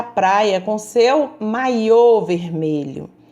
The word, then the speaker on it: maiô: nessas correções letra f maiô e maio olha aí maiô estou tratando de uma peça de roupa de banho maio eu estou tratando de um mês do ano então um assento e a pronúncia muda toda todo o contexto então vamos ler as